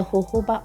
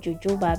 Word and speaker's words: jojoba: skin person is the jojoba oil a lot of people pronounce it jujuba because of the spelling this oil contains antioxidants